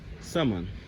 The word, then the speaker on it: salmon: Salmon. Salmon. the L is silent, babes.